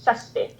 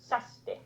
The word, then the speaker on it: Kjersti: But in my Norwegian, where with my dialect, because it's pronounced different in Norway as well, but I say Kjersti.